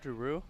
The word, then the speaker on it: Giroux: We got Giroux on the mound. With Alex Giroux on the mound, opening offering. Catches, or just misses outside. Boy, awfully close. Giroux?